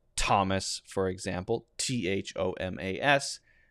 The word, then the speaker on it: Thomas: we've got two now th also makes a hard t sound we're not going to focus on that one because that's just a t sound so in words like thomas for example t-h-o-m-a-s it's pronounced t thomas